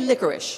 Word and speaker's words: licorice: now when you say i know it's written licorice we say licorice yeah can you say licorice yeah do do that